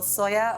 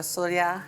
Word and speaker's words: sølje: - Well, sølje or "solya" however you want to pronounce it, just is basically is silver.